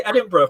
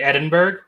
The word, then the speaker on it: Edinburgh: are excuses and then i thought for the longest time it was just the accent that made it sound like there's a little bit of a syllable after the berg part so less would it